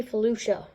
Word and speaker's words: Felucia: or fuchsia but um it's actually Felucia like that's how you pronounce it that's how the clone guy says it well yeah so we